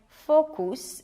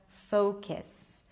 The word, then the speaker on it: focus: Or the U may be pronounced as U, like focus instead of focus.